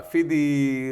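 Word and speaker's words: FDII: Part F and uh Fiddy or whoever you pronounce it yeah that's debatable I'm a fitty guy a fitty guy yeah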